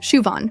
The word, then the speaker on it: Siobhan: Siobhan O'Brien, Shuon, perfect.